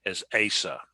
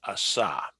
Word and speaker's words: Asa: in deep east texas as asa okay just so you know and uh but uh it's in hebrew it's pronounced asah so anyway are there